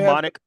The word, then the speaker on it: mnemonic: That's the silent P at the beginning of these words. There's also mnemonic. Right. You said? Mnemonic, that's right. Mnemonic. Oh, yeah. Amen, yeah. Yeah, mnemonic. Just take it out altogether.